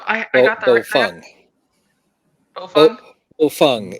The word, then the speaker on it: Baofeng: And my husband, he bought the Baofeng and or Boofwang, someone other YouTuber says it. But They all work. Yeah. so I got the Bofeng. Bofeng. Bofeng is the pronunciation.